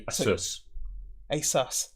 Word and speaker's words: Asus: ace asus e c apparently it's pronounced the same way that pegasus would be so it should be asus it's suspicious are you